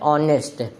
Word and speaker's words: honest: जैसे कि ऑनेस्ट, ऑनेस्ट की स्पेलिंग होती है HONEST। इसकी स्पेलिंग तो कॉन्सोनेंट से स्टार्ट हो रही है, लेकिन इसका प्रोनाउंसिएशन क्या होता है, ऑनेस्ट। प्रोनाउंसिएशन की स्टार्टिंग ओ से हो रही और ओ एक वॉवेल